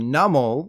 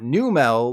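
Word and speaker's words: Numel: region the little camel is called numbel like Martin Mull not new Mel like new car smell while the baby dragon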